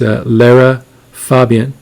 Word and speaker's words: Lara Fabian: So I'm doing another reaction here, and I'm going to pronounce her name correctly this time. It's Lara Fabian.